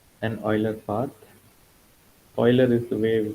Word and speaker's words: Euler: Euler is the way we pronounce his name.